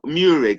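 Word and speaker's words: Meurig: Murig, I prefer to I'm going to change that. Because as in always, there's always different ways to pronounce these Welsh names. But I'm going to keep with Murig, King Arthur's dad, Murig.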